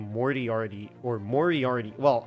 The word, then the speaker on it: Moriarty: name Morty already or Moriarty well I said more TRD like I mispronounced it when I first saw it myself so like where have